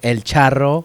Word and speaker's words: El Charro: So El Charro, which is, I'll say it right, El Charro.